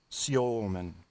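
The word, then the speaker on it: Semin: almost agree with that Alexander Simmon in Russian that's pronounced Alexander San there's your smart tap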